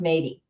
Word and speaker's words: Métis: So it's pronounced Métis.